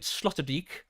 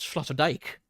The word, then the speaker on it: Sloterdijk: So, when I went there, pronouncing it Sloterdijk. I have now left it, knowing that it's pronounced Sloterdijk.